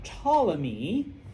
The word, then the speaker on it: Ptolemy: Okay, his general Ptolemy. Okay, and that's where you see the Greek influence. If all of those English words that have a P and you don't pronounce it, those are all Greek.